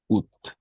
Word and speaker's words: août: Mardi 1er août. Oui, on prononce tout simplement août Août, de oui.